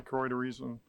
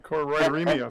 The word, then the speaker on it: choroideremia: direction, for everyone's direction that are affected by choroideremia. I said it wrong. I said it right, choroideremia.